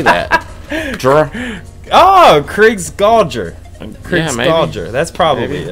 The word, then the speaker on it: Krigsgaldr: Well, the name of the song is, go ahead, try to pronounce that one for me. Let me give it a shot. Krigsgaldr.